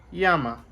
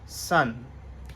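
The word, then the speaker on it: 山: इसको जापानीज़ में मींस कुयोमी में इसका प्रोनाउंसिएशन है यामा और चाइनीज़ में मतलब ओन योमी में इसका प्रोनाउंसिएशन है सन।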